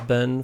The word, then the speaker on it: been: And so the reality is it's Ben for American pronunciation and Bean for English pronunciation.